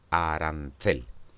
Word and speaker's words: arancel: O en la palabra arancel es la tercera de ellas, la que recibe esa mayor prominencia articulatoria y por lo tanto es la sílaba tónica, arancel.